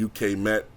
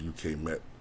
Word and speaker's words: UK Met: uh the icon model I think it's called UK Matt um I think it's actually pronounced UK met but sometimes I just said you've met them